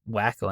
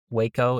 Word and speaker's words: Waco: Like, if you didn't know the name of the city or the town, it reads like Wacko in my opinion, but Waco is is the way it is to be pronounced.